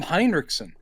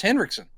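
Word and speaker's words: Henriksen: that's what I've always you're putting an i in there it's just henriksson oh man I've always heard it pronounced as henriksson Lance hen it could be pronounced that way but I've always heard it pronounced henriksson and there's no I let me uh let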